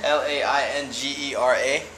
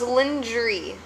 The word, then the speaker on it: lingerie: Oh, like, wait, no, it's lingerie. L-I-N.